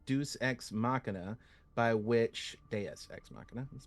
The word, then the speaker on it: Deus ex machina: So what was the inspiration for the almost literal Deus Ex Machina, by which Deus Ex Machina, let's pronounce that correctly, by which I mean having gods as the nuclear reactors of the world that came before?